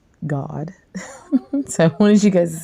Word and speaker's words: Gad: how you pronounce this and how you pronounce Gad you pronounce it God so I wanted you